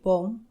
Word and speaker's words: bomb: m+b পরপর থাকলে এবং বি এর পরে কোনো ভাওয়াল না থাকলে বি সাইলেন্ট, অর্থাৎ উচ্চারিত হয় না। উদাহরণস্বরূপ বম, BOMB বম, COMB কম, THUMB থাম, THUMPNAIL থামনেল।